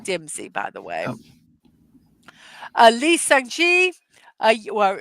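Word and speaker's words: Lee Seung-gi: Oh, Lee Sung-ji, well, it's not Lee, it's pronounced Yi Sung-gi.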